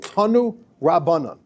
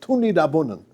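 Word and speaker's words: תנו רבנן: It's called Tanu Rabbanan, or like the Polish Yiddish pronunciation is Tuni Rabbanan. It's a little bit different. We would read it Tanu Rabbanan. They say Tuni Rabbanan.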